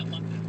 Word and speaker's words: Latif: Yeah, and it's pronounced Latif. Yeah, Latif. That's how I pronounce it. But I've heard some with this the long E at the end.